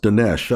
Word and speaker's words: Dinesh: No, I think that's pronounced Dinesh. I've known quite a few Indians in my life, and I think they've always pronounced it Dinesh.